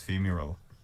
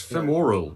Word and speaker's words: femoral: think like the femur i always think the adjective of it is femural it's femoral is fine they're moral isn't it